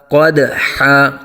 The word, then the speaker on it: قدحا: گے۔ فالموریات، آگے قدحا، قدحا قوف کو اوپر پر آ جائے گا، اور دال ساکن میں قلقلہ کریں گے، قلقلہ خوب ظاہر ہوگا۔ قدحا، قدحا نہیں کریں